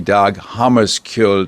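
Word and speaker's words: Dag Hammarskjöld: director emeritus of the dog hamus kill Foundation did I pronounce that fairly accurately Hammer more or less the the the writing is misleading it's actually Hammer you don't pronounce the k but that's a common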